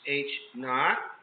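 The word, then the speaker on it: H₀: of a null hypothesis, which is H naught. A lot of people call it HO.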